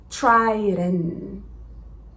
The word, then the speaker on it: Trident: Então, a primeira dica, faz esse som de T aspirado, muda o som do R para try. O D, ele vai fazer a mesma coisa que a gente fez quando falamos o flap T, existe também o flap D. Então ele faz trident, trident. E aí o T, a gente não vai fazer tch, a gente só vai deixar ele quase que silencioso lá no final.